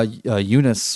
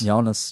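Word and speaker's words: Joonas: Yeah, Eunice, or how do you say his name, has never... Jonas.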